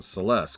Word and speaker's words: Celes: Edgar for that matter it's also how I know it's pronounced Celeste consequently is because of world of Final Fantasy sorry sorry this